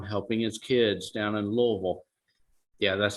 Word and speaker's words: Louisville: he was gone helping his kids down in louisville yeah that's how you say it louisville um